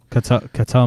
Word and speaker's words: Ketel: Ketel Marte, yeah.